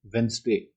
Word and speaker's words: Wednesday: So it is not Wednesday, which most of us speak. It is Wednesday. So I have written the spelling here to pronounce. It should be like this.